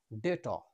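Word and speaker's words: debt: উচ্চারণ হবে না নেক্সট বি এর পরে টি রয়েছে এর উচ্চারণ হবে ডেট বি এর উচ্চারণ হবে না যাই হোক তাহলে যে সমস্ত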